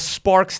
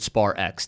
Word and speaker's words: SparX: sparks is doing or is it Spar X tell me what's the right way to say Sparks Sparks we're going all the